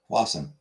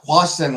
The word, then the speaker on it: hoisin: Hoisin. I don't know. Hoisin. Accent on the end.